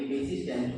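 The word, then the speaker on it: persistent: पेसिस्टेंट, पेसिस्टेंट इसमें आर साइलेंट रहेगा, इसको पढ़ेंगे पेसिस्टेंट।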